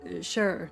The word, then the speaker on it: Shire: You know, you pronounce it slightly different now than you did then. Because now it's Shire. It's like it's Grantbridgeshire and Leicester or Lincolnshire and Gloucester and such.